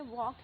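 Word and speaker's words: walk: जैसे यहाँ पे देखिए वॉक है, तो वॉक में एल साइलेंट रहेगा, हेज भी साइलेंट वर्ड वाला आएगा, ठीक है।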